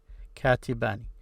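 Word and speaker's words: كَاتِبَانِ: And an important note is, this an at the end of the dual case always have the kasra, I, katibani. So if you continue, you will pronounce this E here, katibani.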